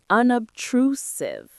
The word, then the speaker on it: unobtrusive: Unobtrusive. Unobtrusive. The stress is on the third syllable.